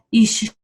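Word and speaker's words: אשה: La pronunciación original era Isha y el femenino era, Isha era el femenino y Ish era el masculino.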